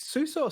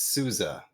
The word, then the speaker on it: Souza: m seuss's entry here is it suso sausa because it's it's souza is it really yep okay yeah souza i i think it's could be pronounced other ways i mean all last